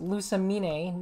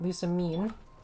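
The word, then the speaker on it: Lusamine: her name is actually pronounced that way it's pronounced lusa mene not lucine oh hey i don't kill in one shot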